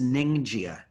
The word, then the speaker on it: Ningxia: The third is Ningxia, and you need to write this down because I want you to spell it correctly.